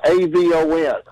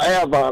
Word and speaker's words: Avon: I'm like, how the hell does A-V-O-N spell Avon? I'm like, I don't have average. Now I look more stupid than I am. I know it's Avon, but up there they pronounce it Avon.